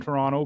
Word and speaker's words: Toronto: the T at the end they're not from Toronto because we don't put the we don't pronounce a Toronto it's Toronto so that's how